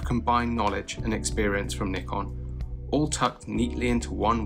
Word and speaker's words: Nikon: i said nikon not nikon so let's just settle this dear americans it is pronounced nikon short for nippon kogaku not naipon kogaku there you go i'm